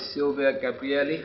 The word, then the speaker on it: Silvia Gabrielli: Hi guys, Adi Shaquir, still at the Global Agile Development and Innovation Summit in London, and right now I'm with Silvia Gabrielli. Did I pronounce that right?